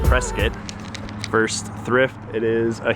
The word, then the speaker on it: Prescott: We're in Prescott, which is actually pronounced Prescott.